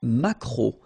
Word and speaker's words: maquereau: T, la truite, le maquereau. So technically this K, just pronounce it K, mac, maquereau, maquereau. Alright? And then E, A, U, remember when you combine these three vowels, you get the sound O, maquereau.